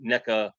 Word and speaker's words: NECA: NECA who you know NECA rhymes with evil I don't and I'm